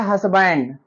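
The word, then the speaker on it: husband: अगला वर्ड हमारा है हसबैंड। हसबैंड में यच का उच्चारण हो रहा है, इसलिए हस्बैंड के पहले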